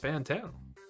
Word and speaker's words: Fantano: Actually, it's pronounced Fantano.